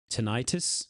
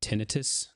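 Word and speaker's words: tinnitus: Tenitis or tinitus depending on how you want to pronounce that is a condition where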